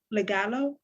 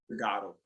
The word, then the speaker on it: Tagalog: Could you state what you just stated in Legalo? Did I say it right? Tagalog.